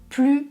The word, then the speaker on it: plus: Paris est plus grand que Marseille. Grand, c'est un adjectif qui commence par une consonne, donc je prononce plus.